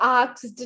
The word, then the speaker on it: asked: पहली बात तो ये asked नहीं होता, ये ask होता है. S पहले है, K बाद में है. आप K पहले प्रोनाउंस करते हो, S बाद में करते हो.